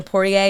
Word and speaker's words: Poirier: I like that guy the Poirier. Is that how you say his name? Dustin He's Poirier. and he's a good dude.